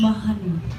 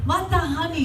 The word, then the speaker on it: Matahani: École Danse de Mahani. Did I get that right? Matahani. Yeah, Okay, you gotta sorry. pronounce the T.